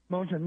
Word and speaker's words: Moulton: Is that how it's pronounced? Kamari Moulton. Moulton, yeah.